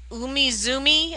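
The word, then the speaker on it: Umizoomi: pretty and green says have you seen Team Umizumi I love that show lots of patterns I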